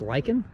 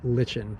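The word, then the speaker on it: lichen: on the Rocks so is it pronounced lyen I've called it Len for my entire life make the work better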